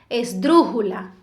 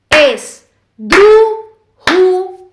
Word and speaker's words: esdrújula: la palabra en sí esdrújula es drujula la es la última sílaba Ju penúltima sílaba dru ante penúltima sílaba no decimos es drujula No si decimos esdrújula no decimos esdrujula tampoco decimos esdrujula por eso es una